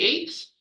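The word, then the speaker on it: ætt: of eight called the eights very creatively it's spelled AE TT but it's pronounced eight because it's the word eight um so it starts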